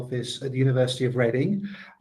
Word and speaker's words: Reading: at the University of Reading. Just to say it's pronounced reading, although you might read it as reading.